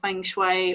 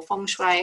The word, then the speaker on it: Feng Shui: a professional training in Feng Shui or Fung Shui however you like to pronounce it which is all about